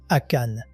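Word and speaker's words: Achan: Akan. En anglais, ça s'écrit A-C-H-A-N.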